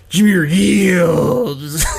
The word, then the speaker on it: Jahmyr Gibbs: for Jahmyr Gibbs, but your pronunciation, because it's Jahmyr Gibbs. Like you really got to work on that last name.